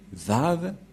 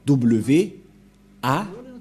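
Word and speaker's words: וָו: prononce selon eux en W A h c'est pourquoi les gens disent W mais en fait ce n'est pas wa la prononciation mais va pour les Juifs les Juifs le prononce va nous allons voir cette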